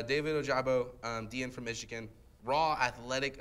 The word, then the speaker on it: Ojabo: alternate picks i had david ojibo david oh jabo thank you i said it right correctly earlier i couldn't say no david ojabo dian from michigan raw